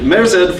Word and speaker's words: Merzed: Merzed from Parabricks is here.